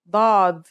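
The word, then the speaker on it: ضاد: The next letter we learn is dad. This one is like a strong version of the dal, kind of like the d in the word daughter. It looks just like the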